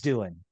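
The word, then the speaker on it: Doohan: you pronounce it okay James Doan it's Doan it's pronounced Doan but um I think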